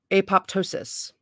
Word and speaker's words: apoptosis: undergo a process called apoptosis that's how you say it yeah which means eating itself